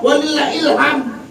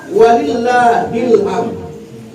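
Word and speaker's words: ولله الحمد: Ada lagi yang ketika yang salah. Allahu Akbar. Walillahilham. Ada walillah ilham. Pernah gak melanggar yang itu? Allahu Akbar. Walillahilham. Salah. Yang benar Allahu Akbar walillahilhamd.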